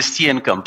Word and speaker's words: Steenekamp: Steenekamp said, just to help you with the pronunciation, it is Mr. Steenekamp.